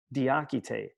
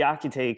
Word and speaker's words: Diakité: not one of us diachite what kind of name is that asked the cashier at a department store in new york only she pronounced it like the architect the akitay comes from the fula people